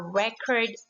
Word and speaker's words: record: Obviously, the first word here is the verb because, as I said a while ago, the stress mark for verb is on the second syllable. And the second one, record book, is the noun because the stress mark falls into the first syllable.